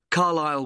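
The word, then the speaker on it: Carlisle: i s l e you don't pronounce the S Carlile way and that's in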